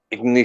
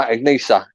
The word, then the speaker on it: Ichnusa: It's Ignisa. Peroni? No, Ignisa. Or it's spelled ICHNUSA.